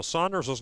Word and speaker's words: Sanders: Now Saunders's name is spelled Sanders, SA N D Rs. However, it is pronounced Saunders just for reference for those out there.